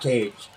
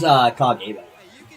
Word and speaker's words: Kage: But I'm curious, when you read that, do you say Cage? Because it's not Cage. That's why Mel refuses to say my name until she shows up at one of my streams and actually asks me how to say it. That's what she told me. She said she's not going to try to say my name on her stream until she swings by and asks me. Yeah. Little slider action. But it is Kage, if you were Next